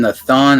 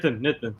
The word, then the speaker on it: Nitin: Before is your name Nathan? Is that how you pronounce it? Oh, it's Nitin. Sorry, yeah, Nitin.